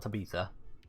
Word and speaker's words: Tabitha: for uh hydrate cheers I think I mispronounced that it's Tabitha not Tabitha whoops switch to drift to